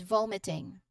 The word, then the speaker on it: vomiting: So pronunciationwise the initial syllable here vom that's where you emphasize the sound of the word.